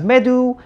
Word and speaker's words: medu: cool right so anyway we egyptologists pronounce this word as medu and in plural something